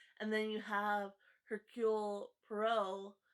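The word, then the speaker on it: Poirot: you have hercule pro which i know before when i i said his name i totally butchered it which i always do um so i used to say merlot i used to save my lot and when i i first said his name i said perrot just a fun little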